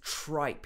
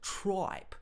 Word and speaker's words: tripe: liver and tripe so listen to the way he says tripe here tribe is talking about internal organs of animals and he pronounces it like tribe tribe tribe instead of tripe so it's a slight